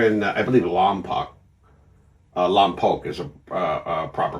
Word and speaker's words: Lompoc: Uh Lompoc is a proper pronunciation actually.